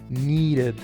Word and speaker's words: needed: Entonces, de acuerdo a la regla original, yo debería decir algo así como needed. Impossible, right? Entonces agrego una sílaba extra representada con este símbolo fonético y va a sonar así. Needed.